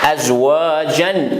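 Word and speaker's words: أزواجا: Ici, comment on fait? Azwajan, on change A simple avec alif. On prolonge un peu. Azwajan, azwaja, wa khalaqnakum azwaja.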